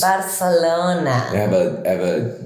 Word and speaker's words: Barcelona: Barcelona.